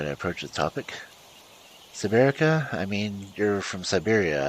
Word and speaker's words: Siberak: Yes, Siberak. She pronounced it differently, so it sounded like a Polish word.